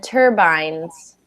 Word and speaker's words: turbines: Although these have the same letters, INES, they're actually pronounced very differently. So engines, Engines? good. And then turbines, Okay, turbines.